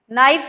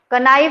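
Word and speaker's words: knife: ये क्या लिखा है मैंने, नाइफ लिखा है, के है इसमें, बट ये साइलेंट है, तो यहां भी ये क्या है, साइलेंट है। इन चीजों का ध्यान रखो, कनो नहीं होता, नो होता है। कनाइफ नहीं, नाइफ होता है।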